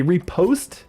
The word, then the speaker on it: riposte: Repost is technically how it's pronounced, but I always called it Riposte.